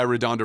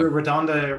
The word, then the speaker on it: RaDonda: were talking about i'm going to get your name wrong is it nurse donda is it nurse oh yeah redondo right yeah radonda right and we don't would you mind recapping